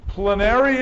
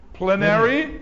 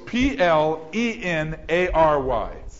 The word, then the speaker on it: plenary: verbal means the words prash plary plinary it's spelled like this p l e n a r y p l e n a r y plenary complete that means